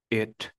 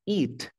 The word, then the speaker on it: it: cerrada En otras palabras lo pronuncio sería it it it que si fuera una I sonaría como eat eat yo no quiero decir eat porque eat es comer tú quieres decir el pronombre sería it Vale ahora voy a